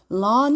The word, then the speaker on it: learn: 도와주는데 뭐냐면 observe and lun 그니까 뭐 하냐면 이거 좀 어려워요 OB serve데 이거를 발음하세요 observe 관찰하다예요 그리고 린이 아니라 여기는 또 이알이 어라고 난단 말이에요 그래서 learn engish 할 때 배우다